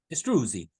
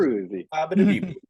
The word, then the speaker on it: Istruzi: Istruzi. Got to say it correctly. Istruzi.